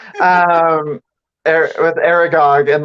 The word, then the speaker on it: Aragog: part with um is it probably going to mispronounce the name like argoth the the spider the giant spider aragorg yeah sorry i'm so bad with names um with aragog and like him dying and everything and him